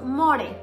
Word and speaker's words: more: little bit different because it's not pronounced like it is in English, but when it's written, then you can see the similarity. So, okay, it's not phonetically, but you get what I'm trying to do here. This one is more, but it's pronounced more. But when you see it written, it's more, M-O-R-E, more.